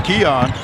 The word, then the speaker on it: Keon: number it's seven and we learn how to pronounce his name it's Keon he he has been